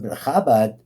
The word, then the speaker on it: Chabad: Everybody says the same question, but Chabad, that's how we pronounce it.